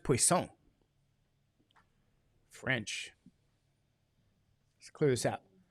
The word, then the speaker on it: Poisson: poisson is yep and it's a French name it's like it sounds like poison sounds like poison you know students always used to say is that the poison distribution I'd say no it's poisson it's poisson it's like